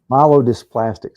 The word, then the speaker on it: myelodysplastic: You messed that one all up, Ben. Myelodysplastic syndrome. That is a tongue twister, isn't it? I was trying to pronounce it out for Mark, and I botched it.